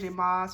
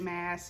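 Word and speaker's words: Maas: book of it's by Serj MZ or Serj mass as some people like to pronounce it um it says number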